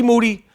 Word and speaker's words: Moody: Moody, whose last name rhymes with duty, is not rocking on this podcast.